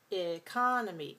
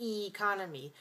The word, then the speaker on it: economy: another change in vowel when we say economy the first sound is it's the same sound as in the word finger the same sound economy it's a short schwa vowel it's a you could say economy also we don't usually say e as in she we don't usually say economy because it's a weak